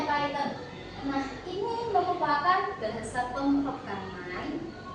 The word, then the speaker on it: Python: Nah, jadi kalau teman-teman ngiranya paiten itu ular bukan bukan bukan python yang itu piton ini bacanya python.